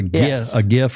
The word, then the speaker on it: GIF: This is an example of the quality of their graphics, and this is a GIF or a GIF, depending upon how you want to pronounce it.